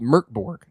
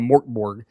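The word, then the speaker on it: Mörk Borg: And uh just for once again I want to say everybody it is pronounced Merkborg. Uh because we got a lot of Morborg. Uh we got a lot of the Swedish chef type thing.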